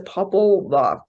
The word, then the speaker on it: Popol Vuh: this so badly, the Popol Vuh, I always butcher that word, I'm sorry, it's Popol and Vuh, the Popol Vuh.